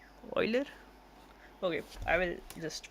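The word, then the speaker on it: Euler: Uler. It's not uler. It's pronounced as Oiler. Oiler.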